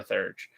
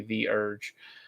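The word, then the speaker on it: Theurge: It's really good for a Thurge, I think the Urge. I always want to pronounce it Thurge, but I'm remembering that no, it is actually the Urge.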